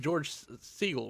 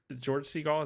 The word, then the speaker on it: George Segal: You do know that George Segal was in this, right?